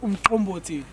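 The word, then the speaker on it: umqombothi: The name of the pier is called Umkomboti. Can you pronounce it? Umkomboti.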